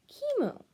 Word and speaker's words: Kimo: Your name's Kimo. Pronounced chemo.